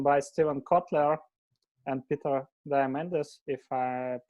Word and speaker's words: Diamandis: It was written by Steven Kotler and Peter Diamandis, if I pronounce it.